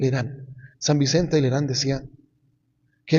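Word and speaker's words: Lérins: Como decía San Vicente del Herán, se escribe Lerin, pero en francés se lee el Irán.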